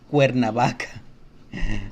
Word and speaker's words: Cuernavaca: So all the A, O, and U letters, vowels, whenever the C is right next to these three vowels, it always sounds like a K. Canción. Comida. Cuernavaca.